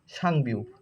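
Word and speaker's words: 쌍비읍: এটা হচ্ছে বিউপ, যদি ডবল বিউপ হয় মানে 2টা বিউপ, তো তার নাম হয় হচ্ছে সাংবিউপ, আর উচ্চারণ হয় হচ্ছে প।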